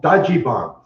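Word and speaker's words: ダッジバン: Well, then they started racing the Dodge vans, and they call them Dodgebons. That's how they say it in Japan.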